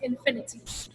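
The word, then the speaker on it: InfiniTT: So we put the TT as representing Trinidad and Tobago, but it's pronounced Infinity.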